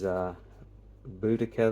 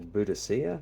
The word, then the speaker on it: Boudica: There's Boudica there, or Boudicca, depending how you pronounce it.